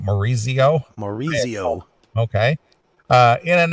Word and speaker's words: Maurizio Iacono: Goliath and the singer Maurizio iacono well that's how you say it Maurizio Maurizio okay uh in